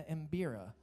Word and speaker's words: Mbira: to an amazing pairing, old-time music in the Mbira.